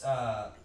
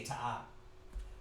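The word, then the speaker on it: תעב: It's not a ta, that's a tha. That tha'ib. Oh, Tha'ib. okay. See, yeah, remember that's the so-called Jews. Yeah. See how they say it? They say ta'ab. But it's tha'ib, the correct ancient Hebrew way.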